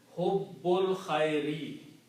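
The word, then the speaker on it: حب الخير: Combine hubbul khairi. The combination will be pronounced as hubbul combined with this ba with the lam. Hubbul khairi is the full word. Okay? This alif is not pronounced, so whenever we don't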